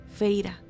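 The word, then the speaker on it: Feyre: pronunció las dos sílabas de mi nombre, Feira, en el lamento más horrendo que yo hubiera tenido que soportar jamás.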